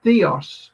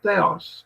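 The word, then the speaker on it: θεός: Greek, and two words, en and theos, or theos, depending on how you want to pronounce it.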